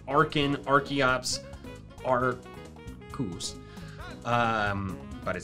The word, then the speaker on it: Arceus: Every single Pokemon on this page, its name starts with R and is pronounced R at the beginning. Arkin, Archeops, Arcus. But it says Arceus, terrible.